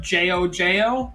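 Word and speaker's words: GioGio: His name is technically Gio instead of Jojo, but it's pronounced Jojo.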